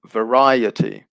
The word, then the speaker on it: variety: and in that case the stress also shifts so it goes from vary to variety so the stress is here so good suggestion there